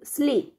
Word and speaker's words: sleep: Một số âm ví dụ như là từ sleep, sleep, sleep. Cái từ này này, con không đọc là sleep nhé.